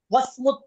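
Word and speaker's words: واسم: ওয়াসমুত তাবিবি, আমরা সিনের আগে হামজাটা উচ্চারণ করিনি, ওয়াওকে সিনের সাথে মিলিয়ে পড়েছি। কেন? এটা হামজাতুল ওয়াসলি।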